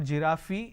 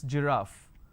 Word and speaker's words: giraffe: giraffe starting with G it's not girafi it's giraffe and we have a